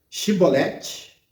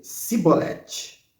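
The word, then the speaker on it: shibboleth: E a palavrinha mágica era Shibolete, porém ele dizia Sibolete, porque eu não podia pronunciar assim bem.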